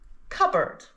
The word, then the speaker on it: cupboard: So, what silent letter do these words have in common? It's the letter P. These words both have a silent P.